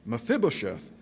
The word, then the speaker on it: Mephibosheth: his face and paid homage and david said mephibosheth he said it right mephibosheth he answered behold i am your servant and